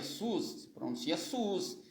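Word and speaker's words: סוס: Se pronuncia sus, mas não é com Shin, não é com essa aqui, ó, de Shua, não. É com essa aqui, ó, Samer, ó, Samer. Sus se escreve assim, ó.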